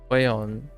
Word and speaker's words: Huion: I don't remember how other people pronounce it, but it's Huion.